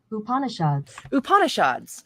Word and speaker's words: Upanishads: I'm not so sure. Upanishad. Let's find out how am I butchering it? Pronunciation. Upanishads. Okay, great.